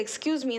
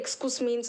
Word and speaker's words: excuse me: சில பேர் வந்து எக்ஸ்கூஸ் மீன்னு சொல்லுவாங்க, சில பேர் வந்து எக்ஸ்கஸ் மீன்னு சொல்லுவாங்க. ஸோ ஃபர்ஸ்ட் என்னன்னா, இது ரொம்ப ஈஸியான வார்த்தை தான்.